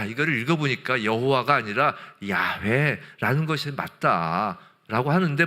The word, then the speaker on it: 여호와: 아도나이에서 아오아이 이것을이 하나님의 신명인 알파벳 요드헤 마브해 이것이 영어 알파벳로 뭐라 그랬죠? Yh라 그랬잖아요. 거기에이 아오이라는 모음을 갖다 붙이면 대충 발음이 여호와 이렇게 되는 거예요.